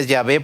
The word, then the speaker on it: Yahvé: Yahvé, porque en realidad se pronuncia Yahvé porque le agregaron algunas vocales.